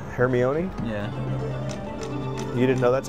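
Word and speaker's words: Hermione: isn't she she is oh herion how do you say it hermion yeah you didn't know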